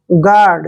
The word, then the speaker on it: guard: देखिए जी का उच्चारण हम क्या करते हैं? ग, और UA का उच्चारण यहाँ पे ओ करेंगे, ऐसे ओ, ठीक है। आर को रे लिखेंगे और डी को डे। आर जो है रे के रूप में यहाँ लिखेंगे।